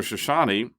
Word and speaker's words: Chouchani: Shoshani, Chouchani, pronounced Shoshani. Part of the mystery about Mr. Shoshani is that isn't even his real name.